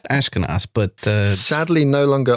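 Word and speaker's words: Ashkenas: as Jeremy a shinus since we didn't how to pronounce his last name and then we learned it's ashkinos but uh sadly no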